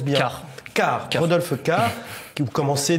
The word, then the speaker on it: Cart: Est-ce que je le prononce bien? Cart.